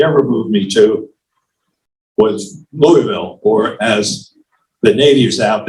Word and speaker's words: Louisville: best place they ever moved me to was Louisville, or as the natives out there insist on calling it, Louisville.